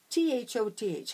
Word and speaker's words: Thoth: T-H-O-T-H.